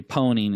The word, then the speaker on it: pwn: And so it's become a joke in the industry that we pronounce it, or we say pwning instead of owning a system.